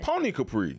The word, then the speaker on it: Poni Capri: And then how I spell, I be thinking it's Poni. So it's so it's Pony. Yeah. Pony Capri.